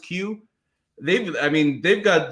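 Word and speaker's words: Kyu: there's the q franchise it's spelled k-y-u but it's pronounced q they've i mean they've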